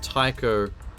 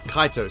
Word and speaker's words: Kaito: said before about if it's Taiko taika no wait kaito sorry I'm saying his name wrong if it was him